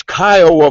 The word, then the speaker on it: Kiowa: And for that guy that couldn't pronounce the correct name of the native tribe, it's Kiowa, for goodness sakes.